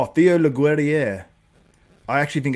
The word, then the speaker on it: Leguerrier: I think he pronounced his name, I was told, as well. It's Theo. Theo Leguerrier.